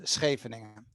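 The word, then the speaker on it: Scheveningen: just try this yeah so i'm going to pronounce it in dutch here this is so you really have to i hope you have something bad in your throat or something but it's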